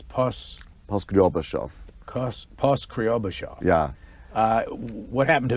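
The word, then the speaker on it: Poskrebyshev: I really can't pronounce that name. It's Poskryobashov.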